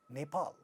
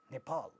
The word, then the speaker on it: Nepal: second syllable is stressed this word it's a is the name of a country nepal nepal so many english speakers when they speak this word because the it has two syllables and the second syllable in the second syllable is stressed and in the beginning of the stressed syllable there is a power sound so they make it aspirated they say nepal nepal now this word intense